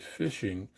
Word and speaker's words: phishing: We'll look at phishing, and this is again is spelled phishing. It's like fishing, the fishing, like you're fishing with a fishing pole, but we call it phishing as a term used